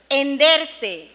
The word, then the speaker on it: henderse: Henderse, forma pronominal del verbo hender, cambia su significado de abrirse, rajarse, cuando se pronuncia con aspiración de la H inicial.